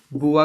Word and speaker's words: Beauvoir: आपकी बुआ जी भी आएंगे इसमें, सिमोन, SIMONEDE, बुआ की स्पेलिंग है BEAUVOIR, ठीक है।